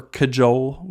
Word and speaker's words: cajole: all I have for kajol which is it's an interesting pronunciation that I wasn't I thought it was a whole day or something along those lines when I read it see AJ o le but if you have